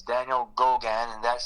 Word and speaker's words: Gogan: If you want to see my personal page, it's Daniel Gogan, and that's spelled Gogun.